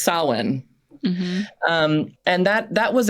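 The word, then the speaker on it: Samhain: n so it looks like it should be pronounced samine but from what I've read it should be pronounced sinan um and that that was a Celtic uh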